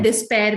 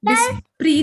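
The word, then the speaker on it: despair: Hope का होता है डिस्पेयर भी होता है, ठीक है। डिस्पेयर, डिस्प्री नहीं होता, डिस्पेयर का अब ये देख लीजिए, स्पेलिंग देख लीजिए, इसका मतलब भी होपलेसनेस कहते हैं, ठीक है।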